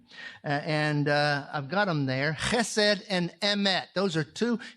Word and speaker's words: chesed: It's chesed and emet.